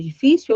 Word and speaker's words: difícil: Então, quando eu olho para a palavra difícil, eu tenho si como última sílaba tônica e o fi aqui como penúltima sílaba tônica. Eu também tenho uma paroxítona, porém agora eu tenho uma paroxítona terminada em quem? Terminada em L.